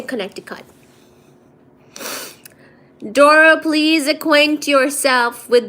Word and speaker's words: Connecticut: Plumber is pronounced plumber. Plumber. No, I say plumber. Just like I say Connecticut, not Connecticut. I say Connecticut.